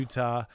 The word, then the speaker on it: Utah: especially in northern Utah, they have this tendency to not pronounce T's very well. Who's they? Who are you calling they? Native Utahns. Ugh. Or as they might be called despicable. in Utah, Native Utahns. No, we say the T in Utah.